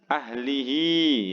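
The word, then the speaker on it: أَهْلِهِ: Ahlihi ya, haknya panjang satu ayunan.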